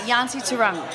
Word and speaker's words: Yanti Turang: Is that how you pronounce it? Hi, everyone. Yeah, Yanti Turang.